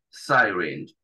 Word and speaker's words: syringe: Syringe. Esa Y se pronuncia como el diptongo I, syringe, ¿sí? La E no se pronuncia al final.